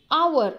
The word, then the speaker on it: hour: our starts with edge but edges silent the pronunciation is our it's not hard so we have to refer